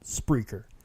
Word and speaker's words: Spreaker: It's spelt like speaker, but with an R. Yes, it is actually spelled like that. Spreaker. It's not a speech impediment. It's called Spreaker.